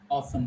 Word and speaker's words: often: It is often. So which letter is silent? T. T is silent.